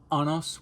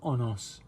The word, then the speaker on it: Honos: Honos became personified in the Roman deity Honos. Or Honos, sorry. I'm sorry, the H's are... You have to really pronounce it.